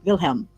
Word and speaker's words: Wilhelm: the old German names oh it's willhelm but if you wanted to pronounce it in the way that they would have said it then it would been yakob and vilhelm okay okay name okay